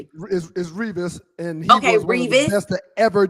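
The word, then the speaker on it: Revis: Um, and former quarterback, mostly with the New York Jets, Derell Revvice, turns 40 today. Is is Revas and he has to ever do it.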